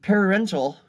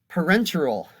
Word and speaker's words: parenteral: disease producing organisms and parental pardon me parenteral i mispronounced that entirely parenteral these this is a